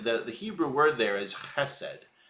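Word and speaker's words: חסד: Hebrew word there is chesed. Often, if you spell it in English, it would be H-E-S-E-D, chesed. You gotta go the ch at the beginning of it, chesed.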